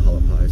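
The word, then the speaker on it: Hualapai: a l a p i p a i halapi I've heard everyone else pronounce it halapi so that's what I call it definitely looks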